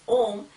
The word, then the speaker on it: Om: intelligent okay so this om is one word which represents okay the iswara it has three three syllables a w and M okay so one word